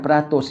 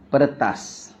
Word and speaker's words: peretas: Dia bukan peratus ya, peretas. Berarti asalnya daripada Jawi nak tuan kitab ni. Ejaannya peretesin. Kan dulu tak ada pakai baris, ada apa. Peretas tu katil, bukan peratus.